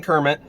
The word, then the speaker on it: Kermit: Herman Kermit, worm, it's pronounced like worm, is going to die.